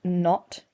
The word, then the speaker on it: naught: And the way we pronounce that is not. Um, so you need your like Downtown Abbey voice not come on come on pen not a u ght.